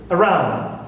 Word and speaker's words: around: Around. So here au, also I stress round.